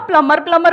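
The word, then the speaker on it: plumber: हो सकता है सर उसको खुद ही नहीं पता कि बी साइलेंट है, आप हाँ। उसको प्लम्बर बोलोगे, शायद उसको अजीब लगे, मैडम फालतू क्या एक्सेंट मारी।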